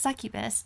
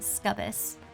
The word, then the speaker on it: succubus: It's pronounced succubus. I I pronounce it scubbus.